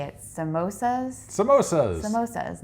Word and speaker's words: samosas: and they had how do you say it samosas samosas most is not Samoas and of course we're just like sure why